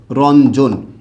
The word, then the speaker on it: রঞ্জন: জয়ের পূর্বে যুক্ত হয়েছে, তাই এটার উচ্চারণটা কি হবে? রন জৌকার জো ন। খেয়াল করছেন বিষয়টা? রঞ্জন, এটা হচ্ছে এটার সঠিক উচ্চারণ হবে।